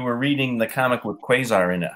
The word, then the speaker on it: Quasar: It's Quasar. Hang on. It's, oh my God, it's Quasar. It's Quasar. The British pronunciation is it's Quasar, and the U.S. pronunciation is Quasar.